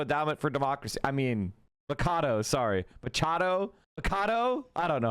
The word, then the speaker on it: Machado: After the referendum results showed electors voted not to recall Hugo Chavez, members of the Sumate, including Macadu, Macadu, I don't know how to say her,